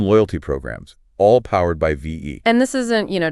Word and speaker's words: VEE: let's set the stage ve and that's pronounced V has been Making Waves